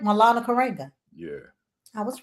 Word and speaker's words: Maulana Karenga: Maulana Karenga.